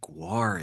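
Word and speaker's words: GWAR: guests privacy but is there a chance that guar is here.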